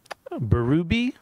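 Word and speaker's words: Bérubé: Out Under Fire by Alan Berube is how I think we're pronouncing his last name, or I've been told to pronounce his last name. There's an accent mark. It's French Canadian, I think.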